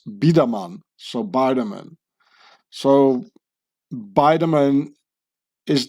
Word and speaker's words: Biderman: can see here baman so I pronounce it in the Swiss German way is a Swiss German name which got angli fied into bman leaving out the E and the N just like the name Huber becoming Hoover which was